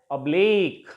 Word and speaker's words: oblique: In the same way, words ending in IQUA, eek, stress will take place on the last syllable, and it will be pronounced as oblique.